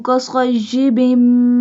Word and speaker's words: كصيب: كصيب bim صاد. صاد pronounced boldly, and meme we do gunna on meme because it has a tashdid.